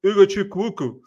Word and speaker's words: Ugochukwu: So difficult to pronounce this. Lesley Ugochukwu.